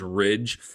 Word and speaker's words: Ridge: Also, I know I keep saying it sounds like Rich because I get people that DM me that I pronounce words wrong. I'm either just talking fast. I know his name is Ridge.